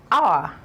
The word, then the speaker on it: hour: All right, and right here, this is pronounced as hour. Not hour. Hour. It is a word on its own. When this word is pronounced, the H is usually silent.